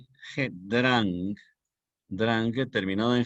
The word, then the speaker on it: Drang: Y la conjunción ilativa en español, Drang, finalizado en G, D-R-A-N-G, Drang, Drang terminado en G.